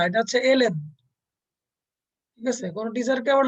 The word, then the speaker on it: ln: এটা কিন্তু এল এন, উচ্চারণ হবে এল এন।